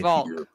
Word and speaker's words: Wolk: It's like walk, but it's Volk.